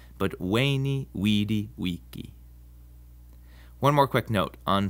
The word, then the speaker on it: Veni, vidi, vici: The V in Latin is pronounced like a W sound. So Caesar's famous saying isn't Veni, Vidi, Vici, but Veni, Vidi, Vici.